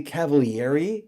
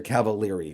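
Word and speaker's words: Cavaliere: the way i said is it really cavalieri he says yes in italian that's how you say it but no one says it that way so he says people say it's a lot easier cavalieri for them so there you go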